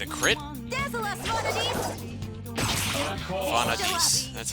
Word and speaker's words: Vanadis: Vanadis. That's how you pronounce it.